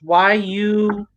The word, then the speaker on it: Yule: Yeah, how you pronounce this? Yule.